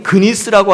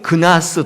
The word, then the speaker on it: 그니스: 여러분, 근데 그니스라고 하는 사람이 누군가? 혹은 그나스, 똑같은 말입니다. 이게 발음 차이인데 그니스와 그나스는 똑같은 사람인데 여러분 이 그니스는 누구인가?